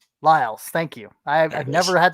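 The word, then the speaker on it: Liles: uh john michael lills laos lyles thank you i've never had to say his name out loud john michael lyles you're welcome uh pierre pierre lacroix pierre lacroix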